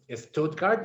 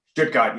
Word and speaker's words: Stuttgart: I want to take you all the way back to when you started studying in Stuttgart. Is that how you say it? Stuttgart, yeah, yeah.